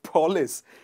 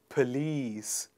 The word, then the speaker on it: police: finally we have paulus is it paulis or is it police please repeat after me once again police okie dokie and finally